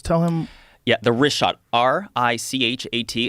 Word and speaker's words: Richat: I used to call it Ricot. I was mispronouncing it.